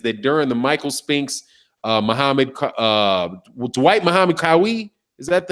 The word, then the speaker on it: Dwight Muhammad Qawi: they're saying is that during the Michael Spinks, Dwight Muhammad Qawi, is that how you say it? That's who it is. Yes, sir. Dwight Muhammad Qawi.